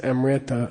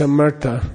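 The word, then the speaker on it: amṛta: in Sanskrit amartha okay people mispronouncing this Amrita I don't know why it's a murta okay mert comes from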